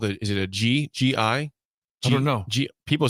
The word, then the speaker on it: gi: it's pronounced gi. Gi. G-H-E. It's spelled G-I, pronounced G-H-E-E. And So will he it's be gi.